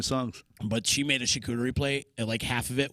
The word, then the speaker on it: charcuterie: She rocked out this charcuterie board for us for St.